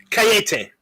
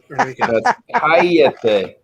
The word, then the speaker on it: cállate: Just for that, cayete. Cállate. You got the accent on the first day. If you're going to tell me to shut up, you got to do it the right way.